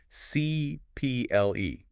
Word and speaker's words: CIPLE: And it's called the CEL, which for new listeners is correctly pronounced CPL.